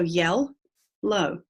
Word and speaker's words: yellow: And I've separated it between the 2 L's. So yell, low. I've also underlined the OW because that OW goes together to make one sound, O, in this word, yell, low.